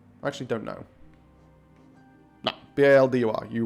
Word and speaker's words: Baldur: It's B-A-L-D-U-R. Boulder. Or is it B-A-U-L? I actually don't know. No, B-A-L-D-U-R.